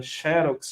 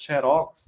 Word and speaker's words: Xerox: Falando em acentuação gráfica, existe também dupla pronúncia prosódica. Você pode falar Boêmia ou Boemia, Xerox, Xerox, né?